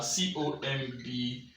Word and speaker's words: comb: Before I answer this question, common mispronounced words are C-O-M-B, B-O-M-B. Now the word C-O-M-B, like you say, is comb. It's not comb. The B here is silent. It's pronounced as comb.